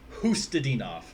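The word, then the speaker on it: Khusnutdinov: See, I finally found out how to say his name, Hustadinov.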